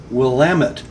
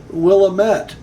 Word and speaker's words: Willamette: valley and a winemaking region in Oregon, is Willamette, not Willamette, as I have been guilty of mispronouncing the word.